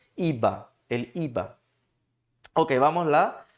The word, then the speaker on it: IVA: A palavra IVA, pode ser traduzida como, aí no caso, pessoal, o som de V, lembrem que em espanhol tem som de B, ok? Então por isso eu pronuncio IVA, el IVA.